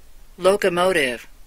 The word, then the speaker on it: locomotive: locomotive. 네. 미국식이라 확실히 T가 약화가 되죠.